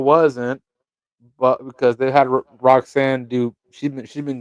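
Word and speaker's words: Roxanne: you didn't catch that she got got her name wrong no what she say she called roxan Roseanne I'm screaming call her Rosanne Perez not Rosanne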